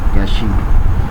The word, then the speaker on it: cache: आज हम storage management के अंदर कैशिंग, इसको बाज़ दफ़ा कैशे भी पढ़ते हैं और कैश भी पढ़ते हैं। सो दोनों प्रोनाउंसिएशन ठीक है, चाहे आप इसको कैशे पढ़ लें या कैश पढ़ लें।